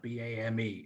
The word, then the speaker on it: BAME: simple um you know bame has got one syllable b-a-m-e has got four